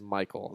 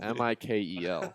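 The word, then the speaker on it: Mikel: astutely pointed out this not the correct pronounce his name is Michael mikl I love but Michael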